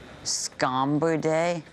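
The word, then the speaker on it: Scombridae: I'm saying it right scomber day scra day scur day yes so it's plural yes scomber day it's French I don't know that part it's the basically it's the family of fishes that tuna is a part of scur day that's right unless I'm saying it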